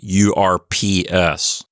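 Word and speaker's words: urbs: there next we have orps orbus which means City that's a feminine noun from what I've read in textbooks the way you're supposed to pronounce this word is like urps ORS in languages you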